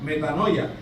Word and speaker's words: metanoia: que se llama que se dice o se pronuncia metanoia, que es metanous, que significa cambio de mente, mis hermanos.